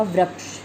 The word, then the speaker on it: वृक्ष: अब यहाँ पे आपको दिख रहा होगा वृक्ष।